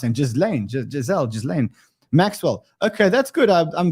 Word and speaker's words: Ghislaine: I don't know, how do you pronounce him? Ghislaine Maxwell.